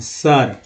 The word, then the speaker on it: SIR: लेकिन अगर SIR करते हैं तो यहाँ पर आई का क्या साइर पढ़ेंगे, नहीं पढ़ेंगे सर, ठीक है।